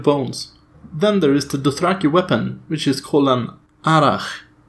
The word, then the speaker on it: Dothraki: itself it's actually pronounced Dothraki with the stress on the first syllable next we have a